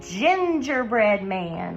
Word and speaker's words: gingerbread: Then we have a gingerbread man. Listen to that first sound, gingerbread man. That is a j, sound.